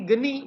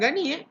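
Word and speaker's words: Gurney: Sir Henry Geni, bukan Gani. Gani lain ejaannya.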